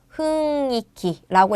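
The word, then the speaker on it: 雰囲気: 여러분 니은 받침은 음이 된다고 했죠? 은이 될 거고 우리 위라는 음절은이라고 읽기로 했어요. 기도가 되어서 흥이키라고 읽을 거예요. 타금 없는 거 체크하셔야 돼서 정답은 1번이 되겠죠. 분위기는 흥이키라고 읽습니다.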